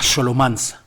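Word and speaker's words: Scholomance: Bueno, él habla de la Xolomanz, Xolomance se escribe.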